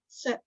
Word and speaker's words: sept: Sept for 7. Now we don't really say that P. Sept.